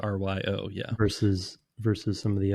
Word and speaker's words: Ryo: It's not consistently pronounced. It is Rio. It is Ryo.